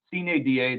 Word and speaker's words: Sine Die: And I'm not an egghead, I promise, but I Googled how to pronounce that because I'm not a Latin guy, but Sine Die, the last day of the term.